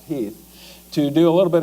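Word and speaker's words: Heth: Lee's intent actually is to kind of let General Heath, it's spelled H E8, but it's pronounced Heath, to do a little bit of recounting, thinking that you might just run into some local militia when you head towards Gettysburg.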